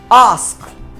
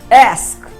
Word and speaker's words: ask: फिर इसको हम 44 IPA सिंबल्स के द्वारा प्रोनाउंस करेंगे। आस्क, ये ब्रिटिश प्रोनाउंसिएशन है। अब हम अमेरिकन प्रोनाउंसिएशन करेंगे। एस्क, यानी ब्रिटिश प्रोनाउंसिएशन आस्क है, अमेरिकन प्रोनाउंसिएशन एस्क है।